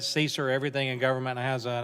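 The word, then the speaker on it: CESER: security and emergency response I guess you're gonna pronounce that Caesar everything in government has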